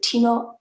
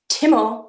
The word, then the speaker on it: Timo: thrilled to be joined by pianist and composer teemo timo sorry um is uh i'm a really